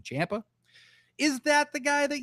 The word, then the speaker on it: Ciampa: Is that Tomasocha? Sorry, that's actually the real pronunciation. Champa.